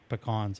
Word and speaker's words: pecan: further away from them and I can get pecans at Costco but they're not the same they're